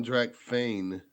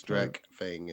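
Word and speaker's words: Drakfang: It's not even Drac Fane. It's Drac Fang.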